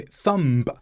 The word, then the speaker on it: thumb: them first of all I pronounced a b after an M but B is usually silent after M and before T I said I hurt my thumb yesterday but the B should have been silent it should have been